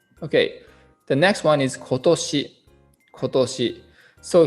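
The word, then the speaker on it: 今年: the next one is kotoshi kotoshi so here kon actually is changed in its pronunciation ko rei ko depend on this second kanji toshi we don't say kontoshi instead which means this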